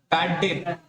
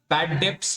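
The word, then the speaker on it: bad debts: इसके अलावा और कौन सा लॉस होगा, बैड डेट, लिखे यहां पे बैड डेट, बैड डेट, BAD बैड, DEBTS, यहाँ बी साइलेंट रहेगा। बैड डेप्स होता है लेकिन पढ़ते हैं बैड डेट, क्या बोलते हैं, बैड डेट, ठीक है।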